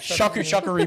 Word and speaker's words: charcuterie: to call it There's a C in charcuterie. it. Shuckery board. Yeah, I just learned how to say it recently.